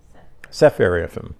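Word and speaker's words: Sepharvaim: name there's a city in Syria named sfum sepharim that's how it pronounced s c p h a r v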